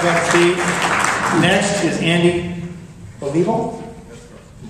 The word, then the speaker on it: Olivo: Next is Andy Olivo. You pronounced that correct. My name is Andy Olivo, and I thank all the Tea Party members for the opportunity to be here today.